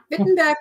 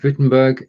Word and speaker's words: Wittenberg: in saxon unhealth yeah wittenberg is in saxon so no wittenberg would say outside germany yes or would you say no that's fine i'll keep with a v i think wittenberg is